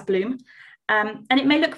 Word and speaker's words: BLM: case this is the bloom protein so we spell it as blm but pronounce it as bloom um and it may